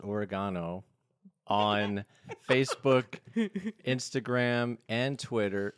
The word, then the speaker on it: Oregano: Oregano, but it's pronounced Oregano, on Facebook, Instagram, and Twitter.